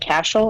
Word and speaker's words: Cashel: actually been a Ranbaxy plant in Ireland and Cashel if I'm pronouncing that correctly it's correct well done there